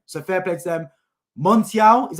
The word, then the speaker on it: Montiel: done it again so fair play to them Montiel is how you pronounce his name winning penalty in the World